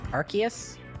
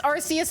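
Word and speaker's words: Arceus: that they won't let me pronounce rcus as rcus and Pokemon say oh it's archus and they made a game to prove it so I'm calling it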